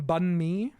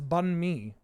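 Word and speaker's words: bánh mì: Because I was told that it's bunme here.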